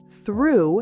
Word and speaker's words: through: Through has an ooh sound.